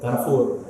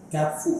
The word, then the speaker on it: Carrefour: itu e itu itu dari Prancis tuh Carfu. Oh, coba bacanya gimana? Carfu. Carfu biasa aja. Biasa aja. Oh, gitu.